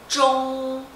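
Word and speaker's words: 中: Então é ch, on, zhong, zhong, isso. Primeiro tom, zhong, tá?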